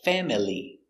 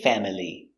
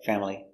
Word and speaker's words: family: It looks like family. But we don't say family. Sometimes family, family, but usually family, family.